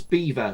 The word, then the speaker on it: Belvoir: It's Beaver, spelled Belvior. Beaver Castle.